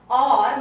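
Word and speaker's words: और: Or means and.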